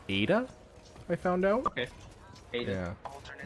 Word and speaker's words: Eta: Starship is so cool which apparently is pronounced Ada I found out okay